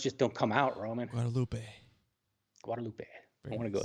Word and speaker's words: Guadalupe: close right there brian guadalupe the e i'm sorry the e is like you pronounce it like it had a h at the end e h say it again well how